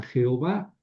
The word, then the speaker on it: Yahvé: Otros protestantes sobre todo le dan Jehová. Yo no me voy a pelear por eso, porque Yahvé y Je Yová es básicamente lo mismo. Creo que la lectura correcta debe ser Yahvé.